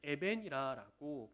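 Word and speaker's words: אבן: 히브리어로 아들을 발음하면 벤이 됩니다. 그리고 돌을 에벤이라고 발음을 합니다. 두 단어가 비슷한 발음을 가지고 있죠.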